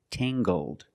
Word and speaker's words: tangled: her hair is tangled, using the nasal sound and the hard g, tangled.